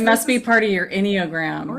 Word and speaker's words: Enneagram: Okay, so Tammy, so the Enneagram, so let's go over what the Enneagram, did I say it right? You said it right the second time.